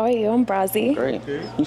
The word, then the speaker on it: Brazi: I'm Brazzy. Great. Okay. You say your name what? Brazzy. Got a little knee band was crazy, though. Huh? Brazzy, like Brazil.